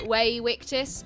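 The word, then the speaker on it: Vae victis: You know, you don't pronounce the V in Latin as a V. It's actually pronounced like a W. So you actually say Way Victus, but obviously that sounds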